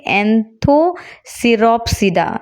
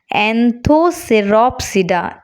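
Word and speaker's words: Anthoceropsida: दिया और इसका नाम एंथो सिरोटे ना रखे एंथो सिरोप सिडा यह स्पेलिंग थोड़ा मिस्टेक हो गया था एंथो सिरोप सिडा ए एन टी एच ओ सी ई आर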